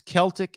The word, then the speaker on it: Celtic: It's spelled the same. I don't know why we do that. It's Celtic and Celtic.